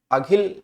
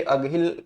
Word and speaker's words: अघिल: तो जो ये ऑप्शन सी लिखा है ना, अगहिल, इस ये अगहिल नहीं, ये अघिल दर्रा है, थोड़ा सा उसमें से अलग उच्चारण है इसका, ठीक है।